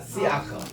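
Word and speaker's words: שִׂיחַ: 시 요거는 신 이게 그리고 요게 히렉 요도 길게입니다. 시 그리고 아라는 것은 발음을 위해서 이렇게 약간 들어가는 슬쩍 파닥이라 그러는데 여기에서 시아크라고 읽어요. 우리 따라합시다. 시아크.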